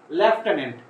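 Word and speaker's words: lieutenant: তারপর হচ্ছে দেখো 6 নম্বরে যেটি আছে লেফটেন্যান্ট, লেফটেন্যান্ট বলতে গিয়ে কিন্তু আমাদের এফ যে শব্দটি আছে সেটি কিন্তু হচ্ছে আমাদের অতিরিক্ত উচ্চারণে নিয়ে আসতে হচ্ছে, কিন্তু এইখানে দেখো হচ্ছে কোথাও কোনো এফ নেই, এই যে স্পেলিংটা আছে।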